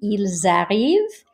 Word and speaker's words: ils arrivent: look here, il arrive, here we would carry the S sound over. It would actually sound like a Z. Ils arrivent, LM versus elles aiment.